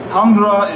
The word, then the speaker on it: Hundra: Kix agira s hundra hundra is Swedish for hred so it's quite similar to English or German hund hund and uh and uh yeah so it's pretty easy to pronounce but it means 100